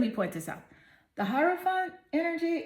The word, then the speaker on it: Hierophant: The Hierophant card and the person on your mind. Actually, it's pronounced Hierophant.